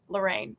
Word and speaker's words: Laraine: is spelled l a r a i n e. Lorraine. I'm Lorraine.